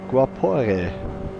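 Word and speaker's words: Guaporé: So yeah, Guapore. That's the way it's pronounced.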